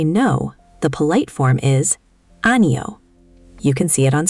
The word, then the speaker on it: 아니요: Let me say it slowly. Ano. The stress is pretty even across all three syllables, but there's a slight lift on the ule at the end. That ule ending is what makes it polite.